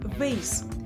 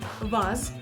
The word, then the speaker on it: vase: American English, pronounced with an A sound like in face, so it's vase, like in I bought a new vase for the flowers. See the difference? Vase versus vase.